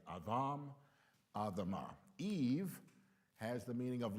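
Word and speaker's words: אדם: Well, Adam, the Hebrew pronunciation is more Adam.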